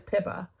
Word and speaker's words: Pippa: Did I say her name was Poppy? Her name is Pippa, by the way.